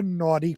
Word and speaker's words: Nauti: her favorite establishments, the Naughty Parrot. Oh, excuse me. And if you're going to write it down, naughty is spelled Nauti, like nautical, but just shortened to naughty.